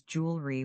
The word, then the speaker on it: jewelry: American English typically pronounces this as jewelry with two syllables. British English often says j o l with three. Say it the American way with me.